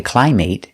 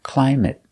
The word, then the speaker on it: climate: are never verbs so they're always pronounced with a short sound it it it example climate we never say climate it's always climate climate the climate in